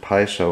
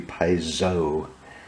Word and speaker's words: Piso: we've always pronounced it paiso or piso however you're feeling in the moment but apparently you're supposed to pronounce it like a z it's supposed to be Piezo uh anyway um they're